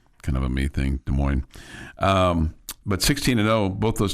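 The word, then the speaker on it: Des Moines: And I know it's pronounced De Moine. That's just kind of a me thing. De Moines.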